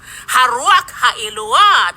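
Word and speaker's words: Ruach Elohah: I want you to know it's RUACH ELOAH. RUACH ELOAH. That's the correct pronunciation.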